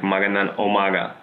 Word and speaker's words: magandang umaga: The pronunciation almost goes with an O, like magandang umaga.